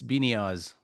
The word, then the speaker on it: Biniaz: What is the origin of your last name and how do you pronounce it? Uh, Iranian, Persian, Iranian. Uh, it's Beinia.